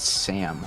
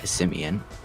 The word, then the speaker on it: Simeon: what people have mispronounced think it's Sam all the time which makes a house he has to he has to say like like the SIM card you know that's his good too or like Sims 4. but like pronunciation it's e his full name is is Simeon so like that I